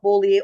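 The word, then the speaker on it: Beaulieu: Sarah Boler I believe she calls herself Boler although it's spelled bullu you would expect it to be bullu that's what she got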